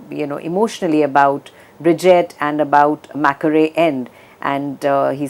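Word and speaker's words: Mackery End: he talks very emotionally about Bridget and about Macquarie End, and he says it's Mackerel End, that's how it's spelled, but it's pronounced Macquarie End.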